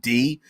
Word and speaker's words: Dis: can help you navigate D or Dis. I always pronounced it D, even though it's spelled D-I-S.